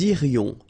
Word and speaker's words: irions: Nous irions. Final S not pronounced.